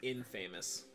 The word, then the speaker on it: infamous: It's pronounced infamous.